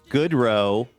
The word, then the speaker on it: Goodrow: A good row is a perfect pronouncer for that.